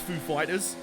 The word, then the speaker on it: Foo Fighters: up to ask hey how you pronounce Foo Fighters is the emphasis on fool or fighters and Dave Grohl just to fight with him was like I think it's on fighters so Dave Roy this